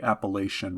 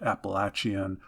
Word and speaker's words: Appalachian: southern end of the Appalachian region of the United States. I know some people pronounce it Appalachian. Whatever you want to do for your pronunciation is fine with me.